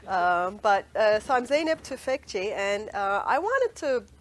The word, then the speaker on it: Zeynep Tufekci: and cry here um but uh so I'm zip toi and uh I wanted to I I've been